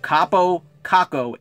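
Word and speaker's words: Kaapo Kakko: that's not some mispronunciation that's his name capo kako 18 years old from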